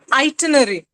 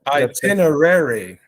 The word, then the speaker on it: itinerary: itenary okay once again could you try tanuja itinary okay Miguel if you could help us with the pronunciation if it's that itinerary itinerary right right right thanks yeah so there